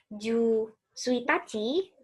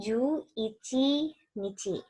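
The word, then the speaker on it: 十一日: Jadi bukan ju suitachi, tapi ju ichi nichi.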